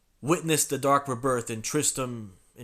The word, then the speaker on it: Tristram: Witness the dark rebirth in Tristram. I'm thinking it's Tristram. I think the other T is silent.